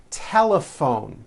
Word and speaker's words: telephone: Telephone. Notice the PH combination in that word is also pronounced as an F.